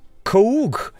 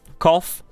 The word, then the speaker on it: cough: so here we go the simple one very easy to pronounce that right co coke no no no no cough I know cough let's